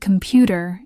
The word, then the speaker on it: computer: For example, the word computer is marked as kempu tat. That little mark before PJU tells you it's the stressed syllable.